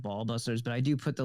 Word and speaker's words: Ba'al Busters: because people are like what is bail Busters I'm like it's not obviously not how it's pronounced right because but that doesn't make any sense but ites it's ball busters because it's medically a